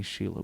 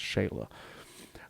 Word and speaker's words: Shayla: um there so and i keep saying sheila but i think it's i'm pretty sure it's pronounced shayla now now that we got